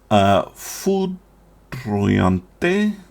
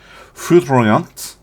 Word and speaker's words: Foudroyante: Foudroyante. No, that's Italian pronunciation. Foudroyante against the Rune, Yorick.